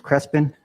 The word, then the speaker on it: Crespin: My last name is Crespin, Crespin. So I've been pronouncing it wrong. It's Crespin. It depends where you're at. Northern New Mexico, Southern New Mexico. Some people roll the R.